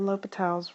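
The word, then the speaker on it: L'Hôpital's: this video covers how to use a l'hopital's rule and yes it looks like it spelled l'hospital but please do not pronounce it that way so first of all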